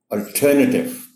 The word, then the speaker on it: alternative: So the correct pronunciation of this word is alternative.